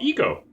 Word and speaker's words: Ico: or you may not have uh it's called eco or ico but don't call it aiko because that's not what it's officially called really